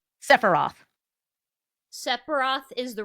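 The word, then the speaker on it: Sephiroth: How do you pronounce the first person's name? Sepharoth. Sepharoth is the right answer.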